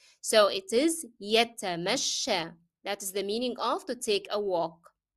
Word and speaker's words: يتمشى: And notice that the last ya, the ending ya of this word is pronounced as alif, and that's because of the fatha appearing on the previous letter sheen.